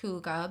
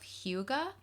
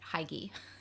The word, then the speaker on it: hygge: Huga spelled h y g g e is pronounced Huga but I've also heard pronunciations of Huga I did not know the pronunciation and I'm